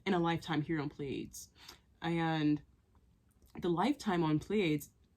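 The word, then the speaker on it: Pleiades: a Lifetime on pades and I keep saying pleades and I don't even pronounce it that way because I was told to call it plads and I want to call it plads but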